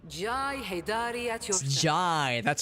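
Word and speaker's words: Jae: Jai, that's how you pronounce it.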